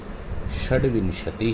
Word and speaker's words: षड्विंशति: तो देखिए 26 यानी 26 को कहते हैं, आप मेरे साथ इसका उच्चारण भी देखिए, सुनिए, षड्विंशति ही, 27 सप्तविंशति ही, 28 अष्टाविंशति ही।